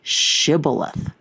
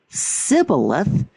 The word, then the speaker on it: Shibboleth: If he replied no, they said, "All right, say Shibboleth." If he said Sibboleth, because he could not pronounce the word correctly, the Gilead seized him and killed him.